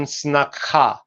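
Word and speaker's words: сноха: So this is pronounced in Sanskrit as snusa, and in Russian snakha.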